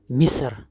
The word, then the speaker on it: مصر: مصر كسرة تحت الميم.